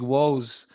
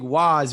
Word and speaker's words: Wos: doug is that um you call me big woes which is actually the correct ethnic way to say my name but publicly i'm known as big wise which is the yankee way to say it so it's dope that